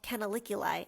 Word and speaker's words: canaliculi: And then we have in the yellow lines what we call canaliculi.